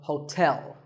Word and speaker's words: hotel: number 12 is hotel there are two syllables ho and tell like the English word tell as in tell me the stress is on the second syllable so hotel a related word is